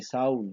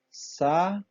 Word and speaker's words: Saúl: Usted no dice Raúl, ni Saúl, ni Tia, ni Río. Usted dice claramente Raúl, Saúl, Tia, Río. Quiere decir que acá, aunque las vocales estén juntas, se pronuncian en dos sílabas.